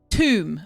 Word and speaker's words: Toom: Toom pronounced tomb. Okay. Tomb. Pronounced tomb.